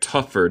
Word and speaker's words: tougher: Dem, ¿puedes pronunciar tougher de nuevo? Yes. Tougher. Tougher. Muchas veces cuando ves un GH suena como F.